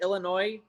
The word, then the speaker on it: Illinois: have got distracted but somebody said Illinois the S is silent I've been corrected a